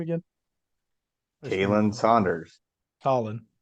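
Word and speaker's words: Khalen: name again Caitlyn Saunders Colin it's not it's Colin it's not Kalyn whatever it's that specifically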